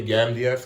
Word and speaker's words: Gamdias: Speaking of Gamdias, I see mad people pronounce it many different ways. I would say Gamdias, because I think that's how you pronounce it, but everybody pronounces it different.